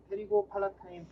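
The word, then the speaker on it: pterygopalatine: 좀 늦었지만 일단은 제목을 한번 써보면 테리고 팔라타인 P는 묵음입니다.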